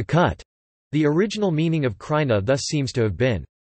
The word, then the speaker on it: Krajina: China pronounced Khurana is a Slavic toponym meaning frontier or March